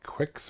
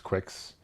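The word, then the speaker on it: Qix: new rally ax arcanoid Quicks or kicks I think it's Quicks I always pronounce it Quicks uh Juno first great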